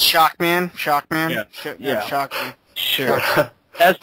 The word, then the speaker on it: Shockman: This is how it's spelled. Shubibin Man. Yeah. So, Shabootin Man. Shaboodin? Shaboodin Man. Shaboon? It's Shockman. Shockman.